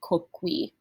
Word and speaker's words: coqui: Plurals, if it's masculine, the plural form will end in a long I, which is pronounced E. So coquus, our word for cook. If you're saying cooks plural and they're the subject, it's going to be coqui.